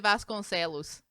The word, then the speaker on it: Vasconcelos: Mario de Vasconcelos.